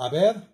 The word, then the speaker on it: haber: Y para el verbo haber, yo he, tú has, él ha. On ne prononce pas H.